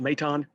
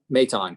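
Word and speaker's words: Maton: a question you said phil's last name is pronounced meitan meitan correct yes thank you appreciate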